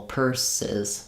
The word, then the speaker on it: purses: In this case, um, we have to add a full syllable because when the word already ends with an s sound, purse. I can't just put an s or z. P. P. I need to add a syllable.